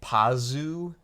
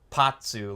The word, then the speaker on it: Pazu: Like, if we were to pretend that's Romaji, like, if you read that in Japanese, that would be Pazu, not Patsu.